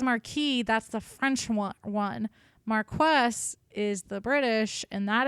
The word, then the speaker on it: Marquess: I swear somebody told me it was Marquis. Oh, that might have been me. It's not. It's Marquess. That's correct.